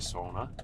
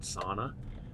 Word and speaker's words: sauna: yourself is Sona so for my Finnish friends out there you know that the proper way to say it is actually Sona not sauna I'm learning that and